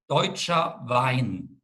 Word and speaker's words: Deutscher Wein: Could you please use the German name so our student can also listen to your pronunciation? It is Deutscher Wein.